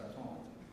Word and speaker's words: baton: And if I were to make that pronunciation properly, as the French would do, pass the baton from one to the other.